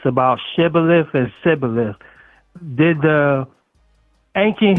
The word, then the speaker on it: Shibboleth: So I actually think your question concerning judges where the gentleman could not properly pronounce Shibboleth but pronounce it Sibboleth.